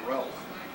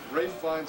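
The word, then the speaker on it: Ralph Fiennes: um brave ray finds lots of people pronounced that ralph yeah incorrectly that's right ray finds us jeffrey coleman although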